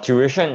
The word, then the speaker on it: tuition: No, tuition is the correct way of saying it because there's actually 3 syllables in the word tuition.